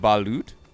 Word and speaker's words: balut: It's pronounced balut.